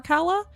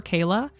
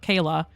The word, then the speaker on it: Kala: irregular around these parts, she has said that I can call her Kala, but everybody else I know calls her Kayla.